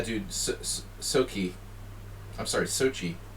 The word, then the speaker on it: Sochi: so key I'm sorry Sochi I was saying it wrong I don't want to say so key that's so weird I